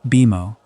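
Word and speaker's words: BMO: Beimo is written like the letters B M O but it is pronounced Beimo and it is short.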